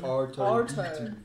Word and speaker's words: Arto: Arto. Is it Arto. Arto? As in Dito. Arthur without the H.